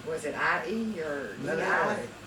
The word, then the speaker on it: Manale: Was it I-E or Manale. Well, the I is pronounced E, in Latin.